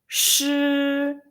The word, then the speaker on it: 师: 诗 oh, for the consonant it seems like shoes in English, so okay. And next part, the vowel is e, so let's together 诗.